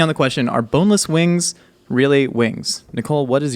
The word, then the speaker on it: Wyngz: I think they deserve to spell it W-I-N-G-S.